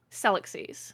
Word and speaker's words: Celluxies: You either add an extra syllable or you emphasize the wrong one. It's so you know the word galaxies? Galaxies. It's the same thing. Celluxies.